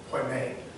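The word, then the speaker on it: ποιμήν: The Greek word is poimen. Poimen is spelled P-O-I-M-E-N.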